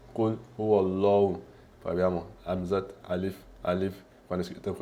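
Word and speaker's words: قُلْ هُوَ اللَّهُ: Quindi invece qua abbiamo visto che abbiamo il Fatah, quindi rendiamo Allah, rendiamo la pronuncia forte. Quindi abbiamo Qul huwallahu, Qul huwallahu, Qul huwallahu.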